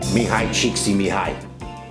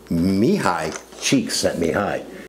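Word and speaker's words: Csikszentmihalyi: Mihai cheeksy mihai. Yeah, that's it. Mihai cheeks at mihai.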